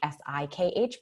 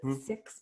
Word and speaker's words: Sikh: That's sometimes we pronounce that Sikh, S-I-K-H, but Sikhs prefer Sikh, so I'll say Sikh.